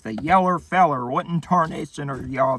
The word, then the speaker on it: Yeller: Yeller like old yeller.